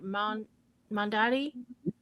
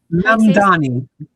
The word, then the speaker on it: Mamdani: Mandani? Mamdani.